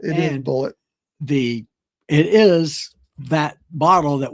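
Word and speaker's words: Bulleit: Yeah, and I always thought it was pronounced Boulet, but in the movie, it's pronounced Bullet. It is Bullet.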